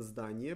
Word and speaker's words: здание: Building is здание. Здание. Written здание, pronounced здание, with the emphasis on a.